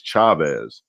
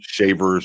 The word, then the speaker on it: Chavis: you're in the carolinas generally it's the chavis and it was just spelled wrong so now they're like oh their last name is chavez but no it's still shavers or chavis okay just a mispronunciation now if you got